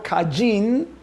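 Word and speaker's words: קַיִן: caín como se nombra como se pronuncia en hebreo caijing qué significa adquirido pero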